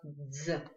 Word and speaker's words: дз: Видите, она состоит из двух букв д, з. Об этом нам нужно знать только одно, что этот звук просто читается как один звук.